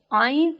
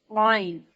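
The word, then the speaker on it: عين: Ain is pronounced from middle of the throat. Ain. Ain is a soft and little round sound.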